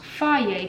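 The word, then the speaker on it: Fage: says on the side pronounced Phi yet cuz it spelled like phage but anyway I'm just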